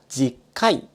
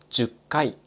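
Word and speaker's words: 十回: 細かいことを言うと 10 回が正しい発音です。しかし日常で使われるのは 10 回という発音が多い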